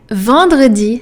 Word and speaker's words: vendredi: Vendredi has another nasal vowel in there. It's the oval one, en. So, vendredi. So you have and the nasal and the R.